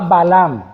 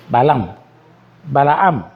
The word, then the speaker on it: Balaam: Y había un profeta que se llamaba Balaam. Se escribe B-A-L-A-M. Balaam.